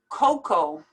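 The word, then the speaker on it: cocoa: word is pronounced lasagna coco you don't even pronounce the a at the end you just say coco juror this is difficult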